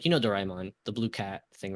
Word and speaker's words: Doraemon: So, for example, like, Doraemon, right? That's how you pronounce like, Doraemon, the blue cat thing, right?